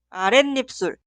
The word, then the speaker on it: 아랫입술: Escuchamos la pronunciación. 아랫입술, 아랫입술.